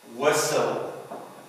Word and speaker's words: whistle: ولكن في بعض الكلمات ايضا بنشوفها صامت silent like in listen listen whistle.